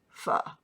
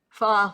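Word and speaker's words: phở: Pho. I'm not sure how you say it. It's not pho, but it's spelled Pho.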